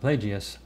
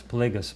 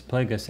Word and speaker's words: Plagueis: the last book uh darth plagueis i actually mispronounced darth plagueis darth and i was saying it darth plagious but it starts plagueis plagueis and uh some of the people who watched